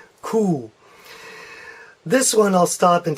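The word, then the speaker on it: Ku: one is cool yes just like a cow in German so I will say mmm c oo to get that sound cool this one I'll stop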